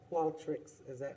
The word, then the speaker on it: Qualtrics: Okay, so I make a motion to approve the Qualtrics, am I pronouncing that right?